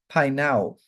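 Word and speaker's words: peinao: The root word for hungry is painao, P-E-I-N-A-O, with an accent on the O.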